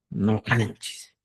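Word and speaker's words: ñuqanchik: Según la norma estandarizada, tu escritura tiene que ser de esta manera. Ñojanchik. Y tu pronunciación va a ser Nojanchis.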